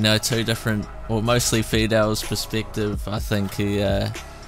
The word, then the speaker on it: FEDEL: Because I always like ruin people's names from overseas, but yeah, no, it's FEDEL.